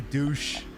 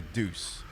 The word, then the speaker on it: deuce: Everyone thinks it's set up like a douche, but know it's like a deuce. Everyone just assumes it's douche because of the way he pronounces it.